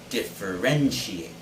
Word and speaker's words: differentiate: it but it's differentiate the stress should be on the third syllable wren differentiate say it again differentiate